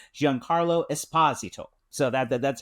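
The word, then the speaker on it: Esposito: He's told us he leans into his Italian heritage heritage. So, it's Jan Carlo Espazito.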